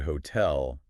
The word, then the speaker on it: hotel: So like in the word hotel, you'd put more oomph on the tell.